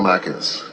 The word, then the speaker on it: Markin: Honorable Alexander Afenyo Markins. I'm just inviting you to present. Marking without S. I'm sorry. I was adding S to your name. So let me pronounce it again. Alexander Afenyo Markin.